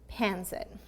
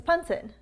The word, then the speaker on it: pancit: i should look up how do you pronounce panzen oh it's punsen yes on our twitch